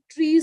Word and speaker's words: trie: So a modified version of trees is also there, which is called as, it's again pronounced as tree, but it's written as TRIE.